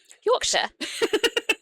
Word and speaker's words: Yorkshire: I do not want to piss off English people by mispronouncing their things. Yorkshire.